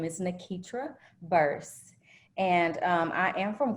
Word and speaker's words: Nakeitra: i say it correctly so my name is nakitra burst and i am from corinth mississippi very